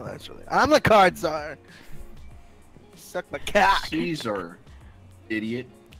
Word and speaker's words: czar: So you think it's pronounced Caesar? You think it's card czar? He's not pronounced card czar. I'm the card czar.